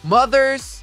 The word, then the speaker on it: mothers: Para pronunciarmos essa palavra corretamente, vamos dividi-la em duas partes. A primeira parte soa como mother, que é um som bem parecido com o som inicial do nome próprio Mateus.